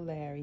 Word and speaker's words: Lari: Her name is spelled with the I. It's L-A-R-I. Yeah, I know Lari is a man's name, and some people leave it in the comments, spell it L-A-R-R-Y, but guys, she is the female version of the name Lari. It's L-A-R-I with the cute little I at the end.